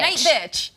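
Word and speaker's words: Nightbitch: Night bitch. No, they said I could say it in my ear. Oh, okay, there you go. It rhymes with witch, bitch.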